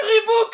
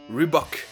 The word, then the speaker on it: Reebok: Alors pourquoi est-ce que certains prononcent cette marque Reebok? Moi je dirais que c'est parce que le nombre de voyelles est perturbant, que le son book fait très anglais, et ça sonne mieux que la vraie prononciation, Reebok.